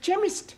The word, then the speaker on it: chemist: begin with a k it sounds like it begins with k CH but that is making it chemist no the CH is